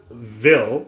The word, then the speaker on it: Ville: Now, it's spelled Vil because obviously Dreamville, but is it meant to be Vile?